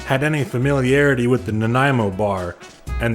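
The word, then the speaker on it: Nanaimo: any familiarity with the Naimo bar and they all said it wrong. There was a bunch of Naomi bars. A few Nanimo bars.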